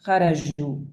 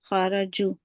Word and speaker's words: خرجوا: Because in spoken Arabic, the jim, it's kind of pronounced like jim, ja, kharaju. But in tajweed, you're not gonna say kharaju, you're gonna say kharaju, ju. I don't know if you notice the difference. Jim, jim, kharaju.